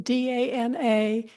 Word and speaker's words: Dana: Final thing, this woman's name is written D-A-N-A and it's pronounced Dana.